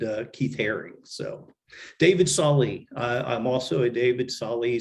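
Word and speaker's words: Salle: keith herring so david sally i'm also a david sally some people pronounce it saul but i i love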